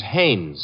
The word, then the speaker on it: Hannes: No, no, no, not Hines. Hannes.